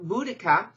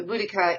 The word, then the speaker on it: Boudicca: culture was that of Boudicca and her name is spelled different ways and pronounced different ways by Buddhika is probably closest to it and how